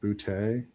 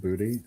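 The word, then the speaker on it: Doubs: It is pronounced bouty, not booty. Okay. You have to throw the tay in there.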